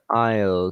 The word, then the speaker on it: aisle: without the ass and I guess the e is silent at the end too oh yeah yeah but